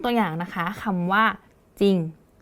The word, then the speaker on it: จริง: อย่างนะ คะ คำ ว่า จริง เวลา เรา อ่าน จริง เรา จะ ไม่ อ่าน เป็น จริง ใช่ ไหม คะ เรา จะ อ่าน เพียง แค่ จริง แล้ว ตัว ที่ เรา ออก ก็ จะ เป็น จอ จาน เห็น ไหม คะ อัน